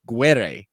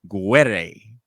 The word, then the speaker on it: Guerrier: I finally learned how to say it. Guerre. That's it. That's right. Guerre.